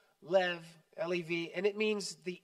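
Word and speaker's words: לב: e b is pronounced Lev a b in Hebrew is V Lev Lev and it means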